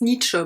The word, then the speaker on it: Nietzsche: It's pronounced Nietzsche, by the way.